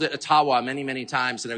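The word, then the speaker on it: Ottawa: ajua First Nations leader who said actually it's it's called a tawa and uh they've been mispronouncing it all these years that I'm not making that up and if you have any of JB boy friends ask them yeah it's aawa so uh your creepy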